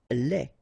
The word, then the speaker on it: lait: Lait. Un lait. Okay, so the only difference is the final thing here, de, you don't pronounce it, te, you don't pronounce it, so phonetically you only have this lait.